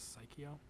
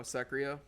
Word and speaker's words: Sekiro: Psycho? Oh, Sekiro?